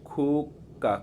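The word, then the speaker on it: 국가: সংমিয়ং, সংমিয়ং অর্থ হচ্ছে সংমিয়ং নাম, তার নাম হচ্ছে হুইহ্যান, হুইহ্যান, হুইহ্যান হচ্ছে খুক্কা, খুক্কা মানে খুক্কা কেন বললাম, গিয়ক বা চিমের পরে যদি গিয়ক আসে তাহলে এটা সাংগিয়কের মতো উচ্চারণ হয়, খুক্কা অর্থাৎ বেথুনাম।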